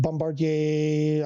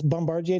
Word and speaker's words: Bombardier: Now the challenger you're talking I see you've written the about the um the bombard bombardier uh challenger I believe uh I bought the